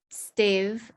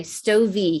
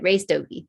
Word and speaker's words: Stovey: I'm sorry, Stovey. He just told me how to pronounce it. Ray Stovey.